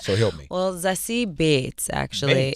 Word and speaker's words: Beetz: well, Zazie Beetz, actually. Beetz. It's kind of like, it's because it's German. So if you think about it, kind of like how we pronounce Beethoven, with the two E's.